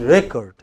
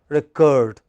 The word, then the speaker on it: record: So when it is noun, it is record. But look at the verb. Many teachers record attendance. What is it now? Verb. When it is verb, it is the second syllable which is stressed, recurred. But when it is a noun, it is the first syllable which is stressed. As noun, it is recurred.